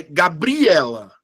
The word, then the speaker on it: Gabriela: Se eu pegar a palavra Gabriela, qual é a sílaba que eu falo mais forte? É Gabriela. É Gabriela. Ou é Gabriela? Quando eu falo Gabriela, é o E.